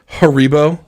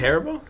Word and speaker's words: Haribo: Isn't I it, was always- isn't it Haribo? Haribo, yes, not Haribo. I mean, who cares about the emphasis on the wrong syllable?